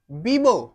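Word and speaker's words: bebo: okay तो similarly बीबो not Vivo it's बीबो बीबो एन ऊना का सा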